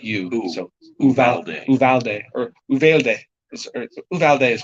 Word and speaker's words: Uvalde: like ooh not you so uvalde valdez or uvalde is correct yeah that could be the spanish pronunciation and if it's something else i don't